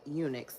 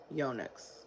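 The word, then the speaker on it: eunuchs: um expand a little bit more on the Unix I may be saying that wrong too let's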